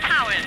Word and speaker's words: Tywyn: It's called Tywyn, T-Y-W-Y-N. Cowan. T-Y-W-Y-N. That's pronounced Cowan.